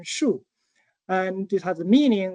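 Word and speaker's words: 木: It has a pronunciation shoe and it has a meaning which is tree.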